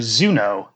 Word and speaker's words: Zuno: In addition, there's the completely unrelated character Zuno, right? Who in that case it's Zu and then No.